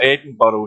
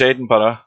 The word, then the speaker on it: Edinburgh: things you know remember it's not edinboro steve i keep telling you that it's edinburgh not edinboro um it's